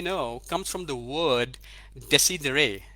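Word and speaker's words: decidere: comes from the word desi deray deci deray is the right pronunciation for it's a latin word d-e-c-i-d-e-r-e digital dictionary means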